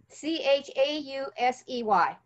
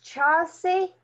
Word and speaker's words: Chausey: C-H-A-U-S-E-Y. Claire? How do I pronounce it?